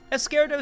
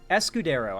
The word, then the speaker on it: Escudero: be avoided in the impeachment trial of duterte escaro said or ES escudero I'm sorry I keep mispronouncing his name uh said steps were taken